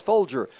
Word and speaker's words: Folger: years ago I said how do you pronounce your last name I didn't know if they pronounced his Folger and they said nope just like the coffee so I knew exactly